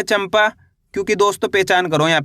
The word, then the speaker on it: चंपा: क्यों पढ़ा अपन ने चंपा?